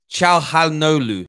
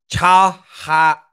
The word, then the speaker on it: Çalhanoğlu: Çalhanoğlu. I think it's pronounced that way.